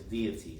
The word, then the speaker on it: deity: Because in English it's deity. So How is it in English? Deity. 3 syllables in English too. Deity.